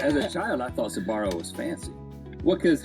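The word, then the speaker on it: Sbarro: it yeah you know there's an S and A B together how many words have those two my mom Tau me that the S was silence we just called it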